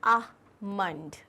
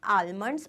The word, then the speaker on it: almond: इसको हम कहते हैं आमंड. आमंड फिर से बोल के बताओ. आमंड. So this is आमंड. This is the correct pronunciation. It's नॉट आलमंड्स और आलमंड्स, it is almond.